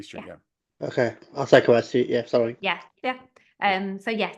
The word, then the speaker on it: Quay Street: Yeah, it looks like Quay, but it's Quay.